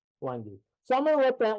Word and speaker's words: wenge: So the wenge is officially pronounced, according to David Marks when I talked to him, wengi. So if you hear me talk about wengi versus wenge, it's just because I